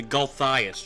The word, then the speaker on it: Gulthias: So, how do you pronounce this tree? Because I've been Gulthias. calling it the Gulthias tree.